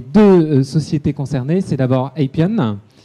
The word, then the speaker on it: Appian: Alors les deux sociétés concernées, c'est d'abord Appian, je prononce à l'anglaise, voilà, monsieur Laurent Chaillet.